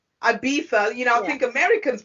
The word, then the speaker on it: Ibiza: festival out, Ibiza. You pronounce Ibiza different to us. How do you pronounce it? Oh, yeah, that's correct. Ibiza.